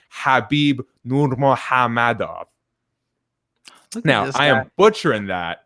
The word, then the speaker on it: Nurmagomedov: The way Khabib pronounces his own name, to the best of my ability, is not Khabib Nurmagomedov. It's actually Khabib Nurmagomedov.